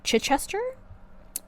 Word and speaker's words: Chichester: Chis- Ches- Chichester? In the UK. How do you spell it? c h i c h e s t e r Oh my.